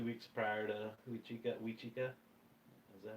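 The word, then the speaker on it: Huichica: Wachika and We Chica. It's one of the two. It's Wachika. HUIC.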